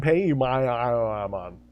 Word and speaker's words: Paimon: I mean, we can't even agree on the correct pronunciation of Paimon. True, yeah. Don't get that fight started. And it's King Paimon. King Paimon.